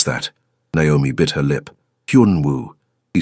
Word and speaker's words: Hyun Woo: "Hyun Woo." He said it slowly. "Hyun like Hun, but with a Y sound. Woo like woohoo.